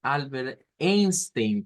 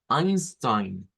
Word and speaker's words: Einstein: relatividad Y es que él no es Albert Einstein como nosotros solemos decirlo en español su nombre o el apellido Mejor dicho debe ser pronunciado como Einstein porque se escribe con e i pero el sonido en el idioma original es a entonces lo vemos acá